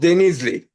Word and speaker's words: Denizli: So, uh, is about 2.5 hours down south to Izmir, between Izmir and Istanbul, city called Denizli. Denizle. like that? Certain. Well, we are D, not there. can you spell it again?